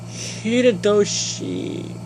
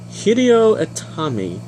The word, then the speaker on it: Hideo Itami: I believe it's Hideyoshi. Oh my gosh, I'm saying it so wrong. Be right back. I'm going to figure out how to pronounce his name and try not to mess anything up. Okay, I got it. His new name is now Hideo Itami.